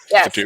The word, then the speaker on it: PhDoom: That's not how you pronounce that. Fadoom? Thank you. Yes. Fadoom.